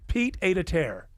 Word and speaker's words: pied-à-terre: And what's annoying me is this word, pied-à-terre. Is that how you say it? I think I have it here. Oh, I never heard it until this year. Pied-à-terre. Pied-à-terre. Pied-à-terre. Pied-à-terre.